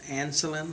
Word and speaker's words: Ancelin: e l i n pronounced anselin like insulin all right so um